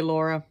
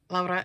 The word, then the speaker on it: Laura: You're more than welcome to say Laura. But Laura is the Finnish way to pronounce it.